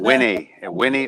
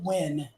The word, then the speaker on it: Wynne: Winnie, Arkansas. WYNNE. I'm watching. Northeast of Little Rock, it looked like. Yeah, we pronounce it Win.